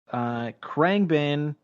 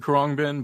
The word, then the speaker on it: Khruangbin: Krangbin. Oh man, Am I pronouncing that correctly? Do you know? I've been saying Khruangbin, but I have no idea.